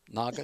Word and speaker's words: Nagas: Am I pronouncing that correctly? Nagas?